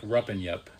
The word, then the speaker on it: Rupanyup: So, it's it's spelled rupy. So, it's like I remember like rupen. If you think of it like rup and yup, r u p rup n y p.